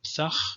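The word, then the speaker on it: ܦܬܚ: It's the P, it's always called P, and it always has, in both traditions, it has a stop pronunciation, P, like in pthah or pthach in the Eastern tradition, he opened, okay, pthach.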